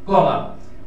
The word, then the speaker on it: column: কলাম COLUMN, এই n এর উচ্চারণটা হয় না, কলাম মানে স্তম্ভ।